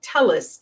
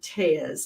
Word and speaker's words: Telles: following the Robert uh telis case uh he pronounces it tees I think and um that's a